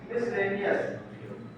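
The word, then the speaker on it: miscellaneous: था, उसके बाद है मिसलेनियस। वैसे सही प्रोनाउंसिएशन इसका है मिसलेनियस, मिसलेनियस, लेकिन लेनियस को कभी सुने नहीं होंगे, मिसलेनियस क्वेश्चन सुने होंगे, मिसलेनियस सही प्रोनाउंसिएशन है मिसलेनियस।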